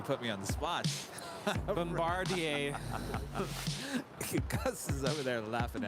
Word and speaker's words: Bombardier: into arguments about bombardier i know some people pronounce it bombard them i can't even say it bombardier it's not bombardier bombardier history roger radar alaska sky west flight 3365 coming in from santa rosa it's an e-jet next up brand new yeah just a couple months old there is no deer in bombardier someone's saying turn off